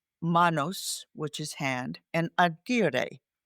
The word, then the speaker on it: agere: The word management comes from a Latin word, manos, which is hand, and agere. That's the Latin pronunciation, the way Caesar pronounced it.